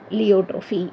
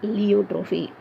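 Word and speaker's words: pleiotropy: This is லியோட்ரோஃபி. இங்கே பி சைலண்ட்ப்பா, எல்லாருமே இந்த மிஸ்டேக் பிலியோட்ரோஃபின்னு படிப்பாங்க. சைக்காலஜியில் பி சைலண்ட், ஃபிசியாலஜியில் பி சைலண்ட். அதே மாதிரி இங்கேயும் the first letter P is silent. It is pronounced as லியோட்ரோஃபி.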